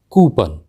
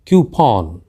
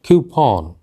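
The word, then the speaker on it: coupon: गलत उच्चारण के साथ हम उसका गलत उच्चारण करते हैं कूपन देख ऐसा कहना बिलकुल गलत है क्योंकि इस का सही उच्चारण है तूफान तूफान डिस्क्रिप्शन ग्रीस ₹50 ऑफ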